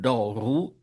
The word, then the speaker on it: δώρου: Τὸ δῶρον with the circumflex, but τοῦ δώρου with the acute.